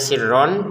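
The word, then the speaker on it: سِرًّا: Sirronya ditekan, kemudian tulisannya sirron, kita bacanya sirro, dipanjangkan ro-nya dua harokat karena kita berhenti.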